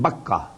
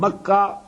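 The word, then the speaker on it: Bakkah: one that is at Baka Baka and makah is the same word two pronunciations of the same word Bak you know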